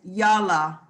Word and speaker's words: yala: Now, the last verb is yala. Yala, and that open O is pronounced like ah.